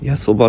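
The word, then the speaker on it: 八場: 駅に到着ですやばって読むんですねね 8 畳かと思ってました 8 時 29 分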